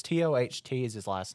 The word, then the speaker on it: Toht: It's Toht is his last name. I've heard it. I've looked online. It says it's pronounced like Todd.